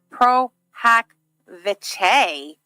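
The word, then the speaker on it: pro hac vice: I'm like 15 minutes back, but just so you know, Pro Hack Vice, oh, thank you, is pronounced Pro Hack Vice.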